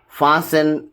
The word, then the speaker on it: fasten: The letter T is not pronounced in the following common English words like castle, Christmas, fasten, listen, often, and then beret, and then chevrolet,